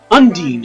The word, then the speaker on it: Undine: Undyne. Ooh! Undyne looks a lot different. I like it. I am Undine. Undine, okay, that's how she wants to pronounce it.